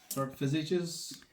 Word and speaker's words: visage: Dark visages. Are monstrous visages. Visages. Monstrous visages. Yes.